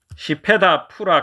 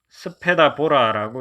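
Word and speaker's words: Śvetapura: 시페다 푸라 가람, 이 한문 원문에는 스페다 보라라고 이렇게 적혀 있는데 이게 시페다 푸라가 약간 더 인도의 산스크리트 발음에 가깝겠습니다.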